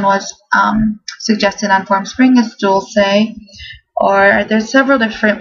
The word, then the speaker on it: Dulce: Anyways, the first name, I believe this one was suggested on Formspring, is Dulce, or there's several different pronunciations for this.